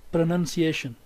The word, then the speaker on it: pronunciation: it is written in phonetic alphabets you can see pronunciation pronunciation pronunciation we have the primary stats here